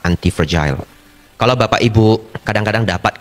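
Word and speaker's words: antifragile: sangat dhamma yaitu antiagile ya nulisnya anti fragile f r a g i l e pronounce-nya yang benar adalah antif fragile kalau bapak ibu kadang-kadang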